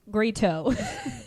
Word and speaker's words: grito: Grito. You said it right the first time. Grito. It's just There a you go. long R, just more R's.